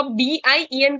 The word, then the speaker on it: bien: तो BIEN को हम pronounce करते हैं bien.